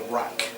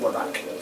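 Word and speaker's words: wrack: The rack. Yeah, the spells. I think they're different rows. There's 3 lots of them. Rack. Oh. Rack. W-R-A-C-K. Yeah, it's pronounced rack, not whack.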